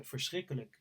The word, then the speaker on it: verschrikkelijk: He said it was verschrikkelijk in Dutch.